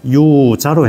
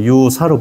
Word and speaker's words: 유자: 보종 유자 15지 유치하며 유자로 해도 되고 유사로 발음해도 됩니다. 요 사자는 사로 발음하기도 하고 자로 발음하기도 합니다. 원음에 가깝게 표현하자 그러면 자로 발음하면 좋습니다.